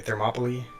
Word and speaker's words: Thermopylae: Okay, Thermopylae is how you pronounce it.